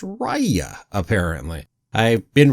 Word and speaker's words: Raya: raya and the last dragon now it's actually pronounced raya apparently i've been pronouncing it rayo before and well obviously i was wrong so